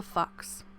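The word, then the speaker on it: Fuchs: note just says hilda fox fox is spelt f f-u-c-h-s and i just looked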